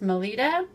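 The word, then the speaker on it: Melitta: Now these are made by, I believe it's pronounced Melita.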